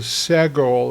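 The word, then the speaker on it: סגול: Now, we have a thing called a sego that has the e sound.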